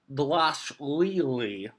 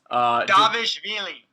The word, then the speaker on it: Dvalishvili: the first fight of the main card, Merab Dvalishvili. I think that's how you pronounce it. I've gotten better now. Davishvili. I think it's Dvalishvili.